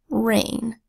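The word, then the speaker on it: reign: from the Arctic tundra our next word is rain as in a period of rule dominance or widespread influence rain dispelled with our that says earth that our ii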